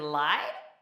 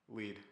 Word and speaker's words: Lied: Elfin Lied. Lead. Oh, every time. Okay, Elfin Lied. Tommy doesn't know how to pronounce words.